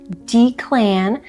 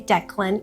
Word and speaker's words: Declan: It's not Dclan. Moving forward, I'm going to say it right. I'm going to say Declan, even though I have never heard this name before in my entire life.